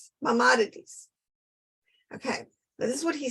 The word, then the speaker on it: Maimonides: Maimonides.